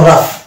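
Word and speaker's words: rough: ও ইউ জি এইচ ও ইউ জি এইচ যদি পাশাপাশি থাকে সেক্ষেত্রে কিন্তু আমরা ওটাকে আফ ধরে নিব আফ মান উচ্চারণ ফ এর মত আসবে কিন্তু সেটা শব্দের শেষে থাকতে হবে এরপরে যদি যেন কোন লেটার না থাকে তাহলে কিন্তু সেক্ষেত্রে ওটার উচ্চারণ হবে ফেরটা হলো রাফ রাফ রাফ কাফ এখানে কিন্তু জি এর উচ্চারণ আসছে না অর্থাৎ জি এখানে সেন্ট থাকছে তারপরে পাঁচ নাম্বারে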